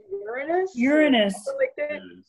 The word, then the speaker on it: Uranus: it oh there is danny says there's a way to say that word without the anus part uranus but then it's not